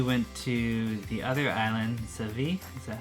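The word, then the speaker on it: Savai'i: Yep, and then we went to the other island, Savi. Is that how you say it? Sava'i. Sava'i.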